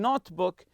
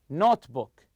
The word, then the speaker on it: notebook: people like to bring notebook or journal to write about their travels so the word here notebook notebook you stress the word note you packed everything except